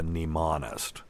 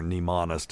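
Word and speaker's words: mnemonist: a mind of a neist and if you're looking it up remember neist is starts with a silent M for the people who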